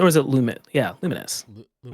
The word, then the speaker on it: Lumines: Is it actually pronounced? We definitely talked about this. Lumines, or is it Lumit? Yeah, Lumines.